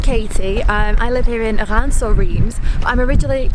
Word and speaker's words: Reims: How do you say that in French? Reims. Reims. Instead of Reims. Right, yeah. Reims, Reims, both work.